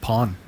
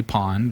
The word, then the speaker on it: pwn: When you see that own to own is spelled pwn, you'll all be so proud of me for not stumbling on that. Way to go, Sasha. For years, I always just called it pawn. Pawn. Yeah, you can kind of call it whatever you want. You can say pond or whatever, but realistically, I think it's own.